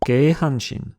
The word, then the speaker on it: Keihanshin: des trois villes, et il se prononce donc naturellement Kyosaka-ko... Non, je plaisante, Keihanshin.